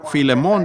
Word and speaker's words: Filemón: la falta de educación así que filemón dijo alguien allá atrás lo cual creo que es la pronunciación correcta para el primer versículo